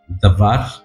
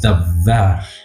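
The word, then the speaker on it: דבר: que se pronuncia d davar o davar Okay Está como entre una a y una e la segunda davar y esa palabra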